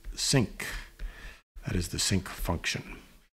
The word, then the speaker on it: sinc: And that's pronounced sinc.